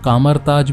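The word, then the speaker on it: Kamar-Taj: तो बेसिकली मैडलाइन जो थी वो कभी कामाताज के अंदर एक स्टूडेंट हुआ करती थी। यहाँ पर कामाताज को कामरताज भी बहुत बार प्रोनाउंस किया गया है।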